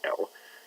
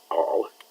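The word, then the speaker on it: -al: And we have to be careful when we pronounce them that you pronounce al and not all, because if somebody hears you say all, they're going to think you're talking about an alcohol.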